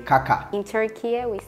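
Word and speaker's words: Kaká: yeah I feel like Italy was more just like Kaka cuz there an accent at the end so it's Kaka in fren it's a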